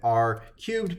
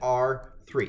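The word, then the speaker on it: R³: almost and we're working with r cubed but we pronounce it r three so we're working in r3 and this is in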